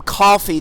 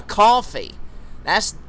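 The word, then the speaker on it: Ko-fi: Yeah, Coffee. I think that's how that website is pronounced, KO/FI. I think a lot of people pronounce it Coffee.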